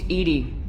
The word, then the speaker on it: EDI: Morelle does not do as nor where you named ed ed is the phonetic pronunciation of Ed I that is an acronym